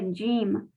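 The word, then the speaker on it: جيم: La primera es la letra Jim. La Jim se pronuncia Y, como doble L en español.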